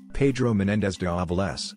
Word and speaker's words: Pedro Menéndez de Avilés: Pedro menéndez valve less Pedro menéndez de avilés Spanish pronunciation February 15 1519 September